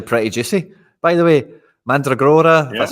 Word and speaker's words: Mandragora: By the way, Mandragora, that's how you say it.